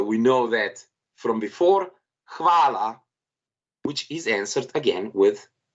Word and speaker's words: hvala: Hvala. Nicole again, please. Hvala. Odlično. Hvala je po angliško thank you. And as I said, overpronounce H, it should be heard.